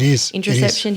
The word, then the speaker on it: interoception: We're talking about interoception here. So am I saying it right? Focus. Yeah, interoception. Interoception. I think I'm getting rid of the O in there.